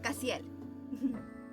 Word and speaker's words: Cassiel: Oh, se pronuncia Cassiel.